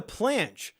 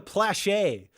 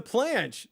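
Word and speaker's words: planche: working towards why the she's saying it wrong it's a planch and she's calling it the plache I'm working towards plet guys she's wrong it's not a plache it's a planch this is killing me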